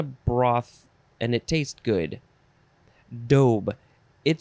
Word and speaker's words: daube: the next word is dobe with the long o dobe it is spelled d-a-u-b-e